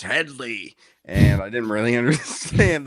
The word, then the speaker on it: Hedley: Um and they kept on getting his name wrong. They kept on calling him Hedi all the whole the whole film. And he's like, "It's Hedley."